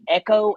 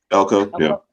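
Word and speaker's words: Elko: Mike Eko. Elco. How I say how you say his name? Elco. Elco.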